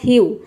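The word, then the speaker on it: hew: Pronounce कर रहे हैं, जैसे कि यहाँ पे एच का हाव होगा तो ये आधा हाव प्रोनाउंस करेंगे और ई डब्ल्यू का हो जाएगा यू, तो ये हो जाएगा ह्यू। ह्यू मीन्स होता है कुल्हाड़ी से काटना।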